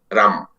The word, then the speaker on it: राम: राम में वास्तव में होना क्या चाहिए कि र में आ की मात्रा और म में अ मिला हुआ, र आ म अ, तब तो राम होना चाहिए।